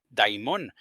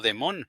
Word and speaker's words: daimón: Y es muy importante usar esa pronunciación, daimón, porque algunas personas podrían pronunciarlo como demón, pero un demonio definitivamente no es lo mismo que un daimón.